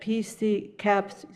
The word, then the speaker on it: PCUN: PCUN, pronounced PCUN, is a advocacy group in Oregon.